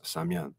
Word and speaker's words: Samian: la langue algonquine donc la prononciation de samuel se prononcent samian et quand j'étais à